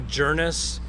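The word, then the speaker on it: Djernes: Shirley's daughter it's Ramona journis but it's spelled d-j-e-r-n-e-s the D is silent and if you have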